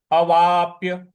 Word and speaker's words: अवाप्य: से पूरी पंक्ति बोलेंगे अगला पद है अवाप्य अवाप्य अ वा और जो प है उस पर हमको थोड़ा सा बल लगाना है तो अपा अवाप्य अवाप्य